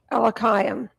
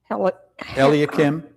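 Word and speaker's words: Eliakim: Then came forth unto him Elkam Elakim. I know these are hard words to pronounce.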